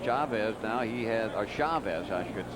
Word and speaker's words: Chavez: kidding about that earlier is it Chavez or Chavez well the Spanish pronunciation is Chavez CH but it's been Americanized into Chavez Eric is from the